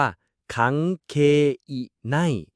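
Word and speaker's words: 関係ない: คำ นี้ ฮิต เลย คังเคน่ อ่าน ว่า คังเคอิน แปล ว่า ไม่ เกี่ยว แต่ คน ไทย ฟัง เหมือน กางเกง ใน เช่น พูด ว่า สุเรวะ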